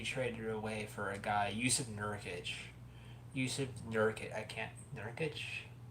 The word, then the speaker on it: Yusuf: He actually has my name, but you pronounce the J. I think he literally has my exact name, but you pronounce his J in his name as a Y because he's a Russian guy.